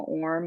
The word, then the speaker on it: Orme: me it seems like, oh, of course you would pronounce it Orme, but so I think it's always funny when people call it like Orme, which to me sounds like Hermes, but obviously that's not what it sounds like.